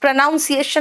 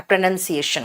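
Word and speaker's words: pronunciation: मैंने कराया चलिए प्रोनाउंस प्रोनाउंसिएशन नहीं होता बेटा। प्रोनाउंसिएशन होता है। देखो नजीम आपने प्रोनाउंसिएशन लिखा है। प्रोनाउंस होता है। प्रोनंसिएशन होता है।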